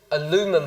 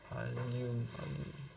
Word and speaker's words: allium: So, onions, Donc les oignons, which are part of the aluminum family. I'm not sure really how to pronounce that. Aluminum, ouais. Aluminum. No. Allium.